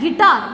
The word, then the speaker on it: guitar: Guitar. Which is silent here? U.